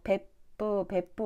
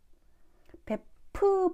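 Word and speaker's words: 別府: ' 베부 ' 보다 는 ' 벳푸 ' 에 더 가깝게 들리지만 , 한국어로는 '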